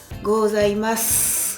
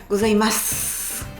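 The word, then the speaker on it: ございます: Gozaimas. Non pas goas. Souvenez-vous le e disparaît. Gozaimas.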